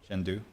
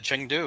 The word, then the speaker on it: Chengdu: happen china did i say that right brad shendu yes you did chengdu okay i see i said it wrong brad